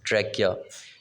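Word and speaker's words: trachea: ट्रैकिया, you'll have to pronounce that word is ट्रैकिया, सांस की नाली को बोलते हैं।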